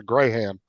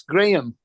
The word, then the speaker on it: Graham: not biscuits Graham Graham no no they would pronounce a grayham Graham Graham it's the name it's Gram Gram yeah it's a a normal Christian name